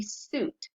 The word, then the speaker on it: suit: So our examples are, you see here that we have suit right here, S-U-I-T, suit. So when you do it, you say suit, and it's one syllable.